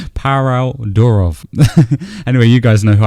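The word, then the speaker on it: Pavel Durov: This is because Parov Durham, how do you say his name? Parov Durov.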